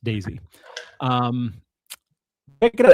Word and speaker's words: DAISEE: Daisy, spelled DAISEE. So DAIC, Daisy, but it's pronounced Daisy.